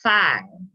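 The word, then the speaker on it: feoh: okay so it says uh the word feel pronounced phi and it's spelled f-e-o-h but is pronounced spy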